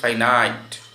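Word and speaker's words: finite: তোমরা যেটাকে ফিনিট verb বলো, আসলে সঠিক উচ্চারণ হচ্ছে ফাইনাইট, ফাইনাইট ভার্ব।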